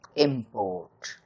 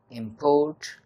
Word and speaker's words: import: a world for example in the english word import is the accent on the first syllable while the word import has the accent on the second syllable so in this case